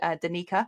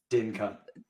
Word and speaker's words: Danica: It's because we've got someone local to us in Southampton called Danica, and every time people say her name, they say it Dinka.